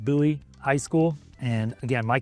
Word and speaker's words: Bowie: Down here, you get to James Buouie looks like Bowie, pronounced Buoie High School.